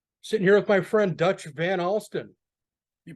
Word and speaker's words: Van Alstin: Sitting here with my friend Dutch Van Alstin. You pronounce that name correctly.